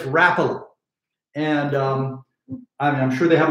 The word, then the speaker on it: Rapala: A lot of you think it's pronounced Rapala, but it's Rapala.